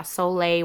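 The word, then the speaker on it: Solé: container, and that's your Soleil water. There's a video on how to make it. It's spelled S-O-L-E water. E with a little over the top. So yeah, Soleil water.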